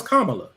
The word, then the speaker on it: Kamala: Kamala, because y'all get real funny about how her name is. No, her name is Kamala.